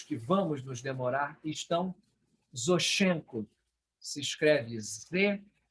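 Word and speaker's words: Зощенко: a lista dos que vamos nos demorar estão zoshchenko se escreve Zé o SH ch é n k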